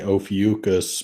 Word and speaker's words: Ophiuchus: I think it's pronounced, I say Ophiuchus, but it could be Ophiuchus.